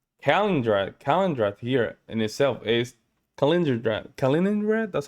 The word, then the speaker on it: Kaliningrad: Kaliningrad here in itself is Kaliningrad.